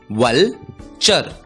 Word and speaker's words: vulture: हमने सीखा TURE का उच्चारण होता है चर और इसलिए इस शब्द का उच्चारण होगा वलचर, वलचर।